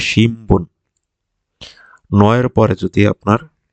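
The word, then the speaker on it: 新聞: সংবাদপত্র হচ্ছে হচ্ছে শিনবুন, কিন্তু এটা উচ্চারণ হবে শিমবুন।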